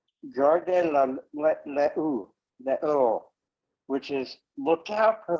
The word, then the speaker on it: Gardez l'eau: One of the things is the British always mispronounce French, so that came out as Gardez-loo, and that's why the British call a water closet, a toilet, a loo. It's from Gardez-loo. Gardez l'eau.